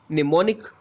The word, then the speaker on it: mnemonic: Code and डी इज mnemonic code. This is mnemonic code, my students. It's the spelling start with M. Okay, but the M is silent, so it is called mnemonic code.